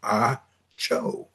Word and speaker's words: Acho: And his name is Emmanuel Acho, Acho, but it's pronounced Acho.